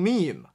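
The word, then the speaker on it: ميم: 它的发音近似英语的 M 或者汉语拼音的 M、读成是一个走鼻子的一个音啊。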